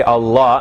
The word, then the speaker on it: Allah: so the lamb so that's why we say allah and not allahu right so we say allahu